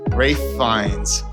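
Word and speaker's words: Ralph Fiennes: I can't remember how he pronounces his name. It's Rafe Fines.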